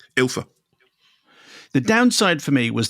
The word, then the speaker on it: Ylfa: Is it Ylfa? Yeah. Is that how you say it? Yeah, no, it's Ylfa? Ylfa.